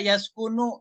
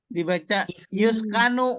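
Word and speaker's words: يَسْكُنُ: Misalnya baca Yaskunu, nu-nya betul Pak Ustadz. Ya, tapi dibaca Yuskanu umpama Yuskanu. Mestinya kan bacanya Yaskunu. Dibaca Yaskanu. Nah, itu dia salah sorofnya.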